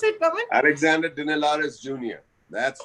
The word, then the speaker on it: Dinelaris: Is that the way to pronounce it, Pawan? Alexander Dinelaris Jr.